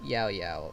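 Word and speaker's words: Yaoyao: I kind of accidentally must have said Xiao Xiao, but yeah, it's Yao Yao, or at least I think it's like that. It's because of the pronunciation of Y in Spanish is more like Xiao Xiao and not Yao Yao.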